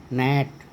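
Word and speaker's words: gnat: उसी तरह से आगे देखें अपन साइलेंट जी, तो ना एन के पहले जी हो तो इसको बोलते हैं ना, नैट, नोम, नार्ली।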